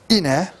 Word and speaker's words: Ine: The next big king following on from him is Ine, as it's pronounced, and he had further military success, expanding the kingdom, establishing his power.